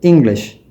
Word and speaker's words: English: முதலாவதாக எங்களோடு மிகவும் நெருக்கமான ஒரு சொல் இங்கிலீஷ். இங்கிலீஷ் என்ற சொல்லை அவர்கள் இங் என்று தொடங்குகின்ற அந்த ஆரம்ப புலியிலே அழுத்தத்தை பிரயோகித்து அதாவது ஸ்ட்ரெஸ்ஸை கொண்டு வந்து உச்சரிப்பார்கள். நாங்கள் வெறுமனே இங்கிலீஷ் என்று சொல்வதை அவர்கள் இங்கிலீஷ் என்று சொல்வார்கள்.